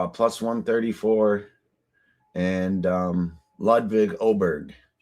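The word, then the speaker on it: Åberg: 134 and um Levig Oberg. It's spelled with an A, but it's pronounced Oberg.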